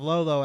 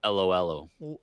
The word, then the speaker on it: Lolo: adventures well adventures of lolo at least is playable this i know because that's how you're saying it wrong it's adventures of LOL oh whoa oh i would